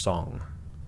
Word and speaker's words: Zhang: of his own men xiang yang or song young i saw something that that said that that z-h-a-n-g is pronounced song song young an agent